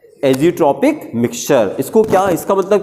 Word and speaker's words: azeotropic: लेकिन जब इसको मिला देते हैं तो एक वर्ड आपको रटना पड़ेगा, AZEOTROPIC, प्रोनाउंस करेंगे, एजियोट्रॉपिक।